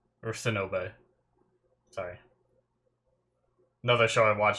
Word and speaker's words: Sinube: I like Shinobu. Or Sinube. Sorry. Another show I watch is Shinobu, and it's spelt like almost similar.